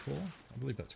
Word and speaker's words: corps: or the marine corps like corpse but it's pronounced core i believe that's correct